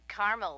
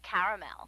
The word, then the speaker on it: caramel: like it in Carmel actually you said Carmel when it's pronounced caramel can't we just call